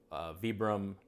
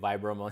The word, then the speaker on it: Vibram: the mini lug the vibram mini lug I know I say Vibram oh but this is an Italian bram Italian brand so the pronunciation would be Vibram zebra mini like on the iron